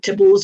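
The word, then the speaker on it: Theobalds: ball's grove station um you can call it tibbles or whatever you like anyway i'm going to call it theo balls because that's how it's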